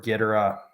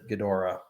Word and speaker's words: Ghidorah: to pronounce him is is it gidera or is it ghidorah i say gedora i say ghidorah as well i think that like you know even if it's gatora i think the the like